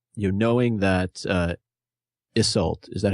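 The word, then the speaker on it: Isolt: But actually, that got me thinking what you just said, you know, knowing that Iseult, is that how you say her name? Yeah, Iseult.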